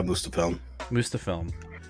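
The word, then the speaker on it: Muspelheim: He basically sends him, or tells him to go to, now remind me how to say this, Mustafilm? Yeah, Mustafilm, which is where Surtur lives.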